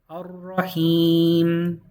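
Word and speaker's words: الرحيم: We start with an a, with a hamza. We're going to ignore the lam. We're going to go ra, himi, or since we're stopping, him. Ar-Rahim, Ar-Rahim.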